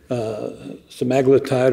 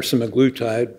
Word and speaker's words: semaglutide: And here is another one, semaglutide or semaglutide. People pronounce it differently.